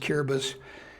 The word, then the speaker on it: Kiribati: quick things it was called Gilbert's now it's curabus looks like Kiribati but it's pronounced kiribus and Bacio is the island operation galvanic was